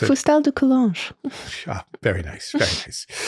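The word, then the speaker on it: Fustel de Coulanges: And Emily, you will now pronounce the name of the author who wrote The Ancient City, because I can never pronounce it. Foustal de Coulanges.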